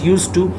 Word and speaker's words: used to: So let's begin the model auxiliary verb 11 that is known as used to. Keep in your mind, D is silent, it is not pronounced but written.